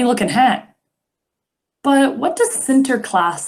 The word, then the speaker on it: Sinterklaas: we say santa claus well in the netherlands they say center class and they celebrate the